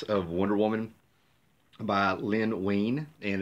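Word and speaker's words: Wein: Wonder Woman by Lynne Wayne and that is how you say his name it's Wayne yeah my curia who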